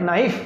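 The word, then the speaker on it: knife: फिर ये क्या है, कनाइफ, नाइफ क्या है, नाइफ, ये के इसमें साइलेंट है, नाइफ यानी चाकू, नाइफ यानी चाकू।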